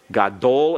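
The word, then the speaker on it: גדול: For example, if we have the adjective gadol, gadol is accented on the last syllable.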